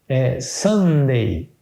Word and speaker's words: Sunday: Na língua inglesa, por exemplo, domingo significa, domingo é pronunciado Sunday.